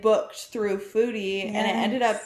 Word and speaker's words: Fudi: Foodie is spelled Fudi, and it is like known for connecting influencers with restaurants.